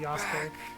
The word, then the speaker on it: Yasuke: He's actually pronouncing the name correctly, Yasuke.